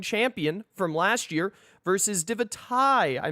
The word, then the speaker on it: Divitae: It's Divitae, and I'm going to do my best to remember that it's Divitae every single time. I'm going to pronounce the tie to make sure that I don't forget, because every neuron in my brain wants to say Divitae when I look at it.